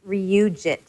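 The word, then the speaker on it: RyuJIT: of the week it I think the way I would pronounce it is rugit r y u ji T and what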